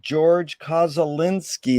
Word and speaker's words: Georg Koszulinski: It's an honor and a pleasure to be here with Georg Koszulinski. Is that the correct way to pronunciate it?